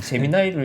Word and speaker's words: 제미나이: 그래서 저 진짜 궁금한 게 제가 보기에도 제미니라고 읽어도 될 것 같아요. 제미나이를 읽는 게 원래 맞는 발음이에요.